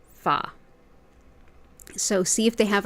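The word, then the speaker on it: pho: harder to find but it's spelled p h o and pronounced fa so see if they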